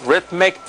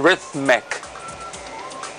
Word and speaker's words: rhythmic: Ustedes saben que cuando nosotros trabajamos con el sonido, o sea, cuando el sonido se representa con las letras TH en inglés, generalmente se pronuncia con la lengua hacia afuera.